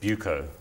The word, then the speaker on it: Buco: and a trading division is it baka or buko i think it's buko buko do you know in